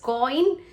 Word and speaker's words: coign: Now this COIGN, we pronounce it as coin.